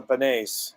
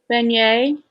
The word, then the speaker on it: beignet: So yeah, that's the one thing I remember is the beignets. Oh, I'm sorry. How do I pronounce it? Beignet.